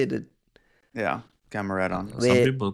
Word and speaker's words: Gamaredon: Yeah, Gamaredon.